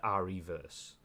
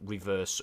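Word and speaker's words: Re:Verse: I'm assuming that's applying the word reverse and you say it like that as opposed to R-reverse.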